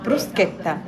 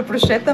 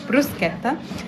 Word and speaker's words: bruschetta: هي مقبلات الطعم اسمها بروسكيتا بروسكيتا ناس كتير بتنطق غلط حتى في امريكا بينطقها غلط بيقول بروشيتا معفش ليه بروسكتا بروسكتا بتبقى عباره عن عيش